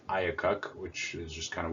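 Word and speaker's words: IACUC: animal care and use committee which apparently is pronounced iacocc which is just kind of weird but whatever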